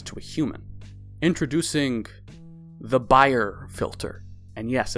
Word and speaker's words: Bayer: introducing the buyer filter. And yes, it's the buyer filter, not the Bayer filter. His last name was German. And that's how you pronounce it in German.